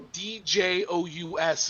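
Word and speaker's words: Dyēus: So Djous is how you kind of pronounce it.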